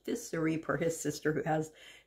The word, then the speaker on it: Ficery: started saying by syria i thought it was pronounced viceri apparently it's pronounced fissuri for his sister who has the same last